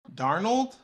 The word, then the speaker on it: Darnold: said that I was like I saw Sam darnold Shannon sharp and I was like those are